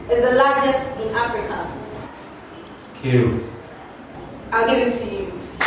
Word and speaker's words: Cairo: Cairo. I'll give it to you. The right pronunciation is Cairo.